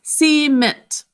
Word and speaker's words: cement: so the word is c mint we end up kind of um putting the emphasis on the second syllable but to sound it